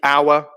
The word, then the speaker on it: hour: So Jesse, hour. Yep, the silent H in hour, absolutely, is a key one.